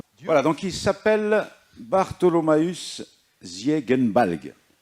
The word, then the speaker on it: Ziegenbalg: donc, il s'appelle Bartholomäus Ziegenbalg. Alors, en allemand, on prononce toujours le Ge, on ne prononce pas je.